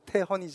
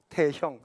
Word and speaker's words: 태헌: 이름의 의미는 뭡니까 저도 이름이 있습니다 제 이름은 태헌이 않습니까 태헌 태자의 법헌자 씁니다 발음하게 어려와 헌은 사람들이 다 형이다 태형 태영 태원 이렇게 막 불러요 제 이름은인데 자의